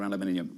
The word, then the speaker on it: aluminium: aluminum, you know, but it's nice to hear aluminium every now and again. I actually think it's pretty poetic. Aluminium, actually. No, it's not. I just absolutely butchered it. I can't do it. It's aluminum.